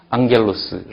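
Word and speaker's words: ἄγγελος: 카파키 네개의 자음 앞에 감마가 왔을 경우에는 영어처럼 발음을 합니다 그래서 앙겔로스 있죠 이게 이제 엔젤입니다 천사 성소에 나오는 말이죠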